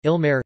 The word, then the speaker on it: Ilmarë: at least one satellite ill merit stress on the first syllable Quenya ilmar or VAR